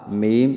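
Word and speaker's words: م: অর্থাৎ দুই ঠোঁট হইতে ওয়াও বা মিম উচ্চারিত হয়। ওয়াও উচ্চারিত হয় ঠোঁট গোল করিয়া মুখ খোলা রাখিয়া, এবং বা ঠোঁটের ভিজায় ভিজায় উচ্চারণ করতে হয়। মিম ঠোঁটের শুকনো জায়গা থেকে উচ্চারণ করতে হয়।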